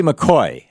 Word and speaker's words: McCaughey: Betsy McCoy has been popping up on Fox News a lot lately, talking about how the Affordable Care Act, a.k.a.